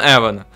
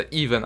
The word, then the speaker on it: Even: Пиздец, рискую, но все на Эвана. Ведь это Эван, значит, все ставим на Эван. И я знаю, что он читается Even, а не Эван.